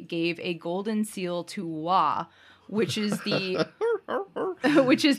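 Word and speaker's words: 倭: different meanings right so this particular character pronounced wah meant uh quote submissive distant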